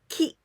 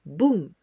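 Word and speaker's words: 聞: We pronounce this kanji ki from the verb kikimasu. Kikimasu, it means to listen or to hear. In onyomi, we pronounce bun.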